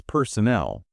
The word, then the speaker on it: personnel: The big one is personnel versus personal. They look almost identical. They do, but the stress changes everything. Personnel refers to staff. The stress is on the end.